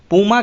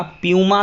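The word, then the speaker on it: Puma: दोस्तों, अगला प्रश्न है स्पोर्ट क्लोथिंग ब्रांड कंपनी जो पूमा है, पूमा के नए ब्रांड एम्बेसडर कौन है। तो जॉर्ज रसेल। पूमा आपने देखा होगा, प्यूमा कुछ भी आप प्रोनाउंसिएट करें।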